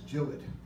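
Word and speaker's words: Gillott: different and and by the way it's not pronounced jalot to my amazement Bob Herford went over to England to the pen shop and they were very upset with his pronunciation it's not gillot it's gilled I cannot refer to it as Jill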